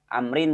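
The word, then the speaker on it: عمرو: kita Bukit Abu mudhof Amrin bodoh Hai nilai kitabmu Amrin di dalam bahasa Arab kalau di akhirnya ada Wow ini dibacanya Amr kalau enggak ada Wow dibacanya Umar di Amrin Amerika kalau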